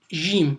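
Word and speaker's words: ج: Donc c'est comme le J français.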